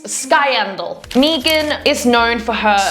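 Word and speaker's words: Skiendiel: I cannot pronounce names. I'm sorry. It's Skyendal.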